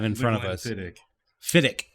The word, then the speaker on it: Glenfiddich: It's So- not Fiddich. Right, it's Fiddick. Okay. Glenfiddich. Well, I'm just ICCH and I instantly go ch. yeah, Fiddich. it's just one of those weird things. Like, Yeah. they spell it with the CH, but when they pronounce it, it's Fiddick.